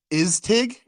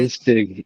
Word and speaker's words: ISTIG: So I'd officially like to introduce to everybody ISTIG, right? Am I saying it right? ISTIG, you got it All right this right.